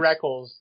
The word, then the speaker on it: Rekkles: I think it's Reckles too, but then they stopped saying it Reckles like halfway through his first season and started calling him Reckless. So I did too. I guess they might have talked to him. He might have been like, guys, it's Reckless.